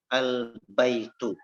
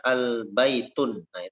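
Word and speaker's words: البيت: diberikan alif lam ya albaitu albaitu ya Nadia tidak lagi di tanah minta maka tidak boleh kita membacanya dengan misalnya albay tunai itu salah ya sama seperti situ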